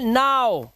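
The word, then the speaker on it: now: अब देखो यहाँ पर OW का उच्चारण O होना चाहिए, लेकिन यहाँ O तो नहीं है, तो दिस इज नॉट, ये है नाउ।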